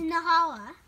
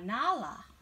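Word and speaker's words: Nalah: It's Nahala. Let me see. How do you say it? Ah, Nala.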